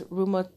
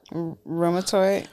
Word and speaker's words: rheumatoid: Um, I have a hard time pronouncing it, but it's rheumato rheumatoid.